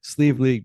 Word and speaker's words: Sliabh Liag: not get this unless you look up the pronunciation sleeve League distillers in Donegal Ireland so James welcome thank